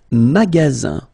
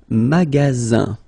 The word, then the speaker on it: magasin: Le magasin. Le magasin. Okay, remember, you've got only one S between two vowels. Then you get the sound Z, alright?